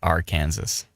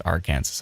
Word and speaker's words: Arkansas: Woodstock uh Sora says they get real upset if you pronounce it R Kansas yeah I mean it's literally the words AR Kansas on it but yeah Arkansas down in Arkansas uh thundering